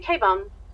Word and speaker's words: Kebun: Kebun?